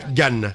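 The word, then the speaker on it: גן: Il faut pas dire G comme en français.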